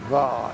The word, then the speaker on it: Hvar: Hvar, yeah. Well, it's spelled H-V-A-R, but it's probably pronounced Var in the local I'm not language.